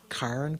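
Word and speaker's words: cairn: the girl's name c-a-i-r-n karen karen karen ah i get that we get the right karen karen okay there we go good scottish correct scottish pronunciation what's a care in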